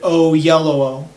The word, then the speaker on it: Oyelowo: Yeah, I looked up a video of him pronouncing it. The actor's name is David Oyelowo.